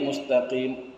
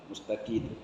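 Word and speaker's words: مستقيم: Ihdinas siratal mustaqim, kata N. Rupanya begitu dulu diajar, didengarnya waktu pelajaran pertama, begitu sampai tua begitu saja. Padahal M, padahal mim ya, mustaqim, gitu, mustaqim.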